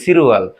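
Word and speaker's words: 칠월: এটা কি হবে ফারুয়াল, সিল উয়ালে কি হবে সিরুয়াল, ফালুয়ালে কি 8 মাস, তারপরে কি 9 কি খু, তার মানে কি হবে উচ্চারণ কোরিয়ান খু উয়াল মানে কি 9 মাস,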